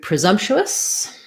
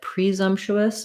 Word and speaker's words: presumptuous: so this one um knowing about how many syllables it has is pretty useful as well and the syllable stress we stress on the zom syllable um so that means